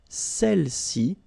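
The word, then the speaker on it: celles: and then sa all right feminine plural seli okay don't pronounce the final seli all right so let's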